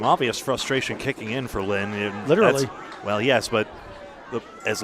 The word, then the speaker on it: Line: Lynn Ward, spelled L-I-N-E like lime, but it's pronounced Lynn.